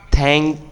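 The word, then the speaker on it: thank: দুই ঠোটের মাঝখানে জিব্বাটা রেখে এমন থ্যাঙ্ক you very much okay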